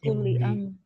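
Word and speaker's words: امرئ: This word is Imri. Yeah, this word means man. If we just say Amr, that means order. So that has different spelling. This one has different spelling. And pronunciation is also a little different.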